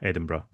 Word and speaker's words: Edinburgh: So, it is pronounced Edinburgh. So, it's it sounds like bru at the end, bruh, rather than Edinburgh.